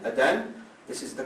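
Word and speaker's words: Adhan: the call to the prayer it's called the Adan a d h a n Adan this is the call to the prayer that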